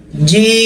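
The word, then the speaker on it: جيم: জিম, জিম উচ্চারণ করতে গিয়ে মানুষের যে সমস্যাটা হয়ে থাকে সেটা হচ্ছে অনেকে তারা জিম বলে। কি বলে? জিম। জিম হবে না, জিহ্বার মধ্যখান উপরের তালুতে লাগবে, জিম জিম, একদম সহজ, জিম।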